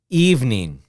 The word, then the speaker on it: evening: number nine two sounds evening okay so this is a little bit strange we have three syllables and two syllables so which one is correct okay well the correct pronunciation is three syllables evening is the correct